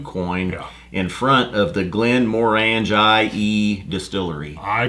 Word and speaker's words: Glenmorangie: and cask to coin in front of the glenmorangie distillery I pronounce that Glenmorangie very good when given time